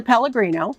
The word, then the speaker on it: Pellegrino: lying I love it my name is Pellegrino it's spelled like the water the e-l-l-e-g-r-i-n-o and you